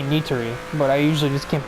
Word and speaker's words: Nitori: I've heard Sayori a lot, but I usually think of it as Sayori, but I think that's because of it being Nidori, not Nitori. It's actually Nitori, but I usually just can't be bothered to change the way I pronounced it for 5 months.